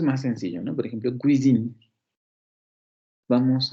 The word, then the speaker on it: cuisine: Por ejemplo, cuisine. Vamos a... Cuisine. Es esta. La, la. cuisine, cuisine, ya.